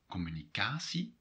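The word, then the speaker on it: communicatie: to that for example foreign words like communicacy comes from french and english communica there the stress is on the third syllable yeah that's something you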